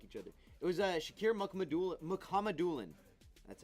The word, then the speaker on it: Mukhamadullin: It was Shakir Mukhamadullin. That's how you say it. Mukhamadullin.